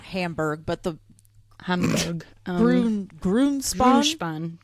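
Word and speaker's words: Grünspan: Grunspan. Grunspan.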